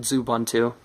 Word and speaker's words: Xubuntu: Before, it was running Xubuntu, or Xubuntu, whichever you like to call it. I like to call it Xubuntu. Yeah, because that's the way most people pronounce it.